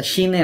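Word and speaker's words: ش: তাহলে শিনটা হবে শক্ত করে জিহ্বার মাঝখান থেকে।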